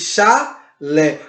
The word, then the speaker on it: chalé: A palavra chalé, termina com E. É uma sílaba. Você não diz chalé, você diz chalé. Por isso, ela é uma sílaba tônica e ela é acentuada, terminada em E.